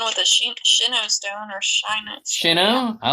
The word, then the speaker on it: Sinnoh: He's gonna get an evolution with a Sinnoh stone or Shino. Sinnoh? I like With a Sinnoh. Sinnoh I think stone. it's Sinnoh.